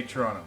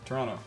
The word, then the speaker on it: Toronto: How do you say Toronto? Toronto. Toronto. Toronto. So you don't say Toronto. Yeah, that's how I know Toronto. you're foreigner. Ah, okay, very good. Oh yeah, just ripping out to Toronto.